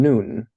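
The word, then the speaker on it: נון: we would expect uh noon is pronounced as in nail and samik is pronounced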